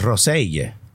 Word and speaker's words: Rosell: We should have pronounced it Rosell. Why? That's how he pronounced it. That's how the Catalan pronunciation.